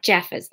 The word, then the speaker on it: Jeffers: end of chapter 9 it's a soft G i Jeffers like the name Jeff that makes much more